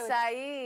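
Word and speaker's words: açaí: We didn't know if it was acai or what, but it's acai.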